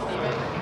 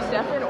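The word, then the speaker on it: Stephen: Steph, is there an origin story at all to why your name is pronounced Steffen as opposed to Steven?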